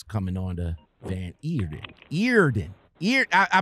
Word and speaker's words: Eerden: on the van eater earden ear i pronounced the right ear then right feared it yeah like ear like ear and a den but it's e-e-r all right thank you